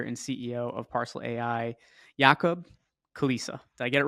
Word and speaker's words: Jakub Kulisa: is the co-founder and CEO of parcel AI yakob Kalisa did I get it right perfectly pronounced like you sound like as if we